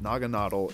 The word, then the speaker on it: Naganadel: Like, Naganadel looks a little bit better, but Naganadel is what they said is how you pronounce it.